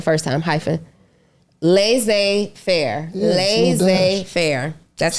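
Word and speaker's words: laissez-faire: was right the first time hyphen lay Fair L Fair that's how you say it that's a little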